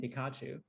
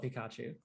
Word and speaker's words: Pikachu: things differently anyway like even pikachu says his name pikachu none of us call it pikachu yeah that's true yeah or pikapi or are we all doing it wrong i mean it's it's tech you know it's pikachu but you know of course we say pikachu like we say with the